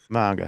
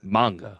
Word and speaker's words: manga: And did I say it right that time? I manga manga. You got it, man. Yeah, it's not mango salsa, it's manga.